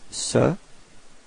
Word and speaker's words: ce: have actually two forms the first one is Sir and the second one is set okay so